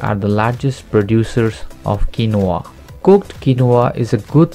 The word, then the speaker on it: quinoa: pronounced as quinoa.